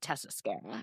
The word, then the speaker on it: Tessa Skara: Tok uh I'm at tesscara andar oh it's SK A R A yes yeah yeah love it and it's pronounced like mascara yeah interesting um everyone